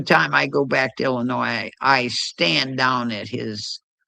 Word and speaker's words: Illinois: The S is silent You're a Every time I go back to Illinois, I stand down at his at his graveite and I salute him.